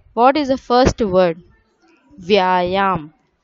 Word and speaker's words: व्यायाम: Vyayam. Here children, v is halfly joined with ya. So we'll read it as if. It is half letter no.